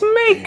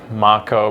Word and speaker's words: Mako: It makes sense that it's Mako because Japanese, there's no such thing as Mei. There's Me, but no. Yeah, so it makes sense.